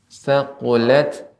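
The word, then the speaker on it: ثقلت: Iya, ada tak sukun ini termasuk huruf hamus yang ketika sukun dia tetap ada bekasnya. Thaqulat, demikian.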